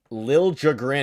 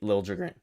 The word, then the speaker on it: Liljegren: I just went ahead and, because we're talking about trades, I looked at Timothy Liljegren, I think is how you pronounce it now.